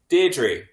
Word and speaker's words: Deirdre: It's Deirdre. Defo. No, it's not. I watched Coronation Street. Deirdre Rashid. I mean, is that like a location pronunciation? That's how they say it in the north. Deirdre.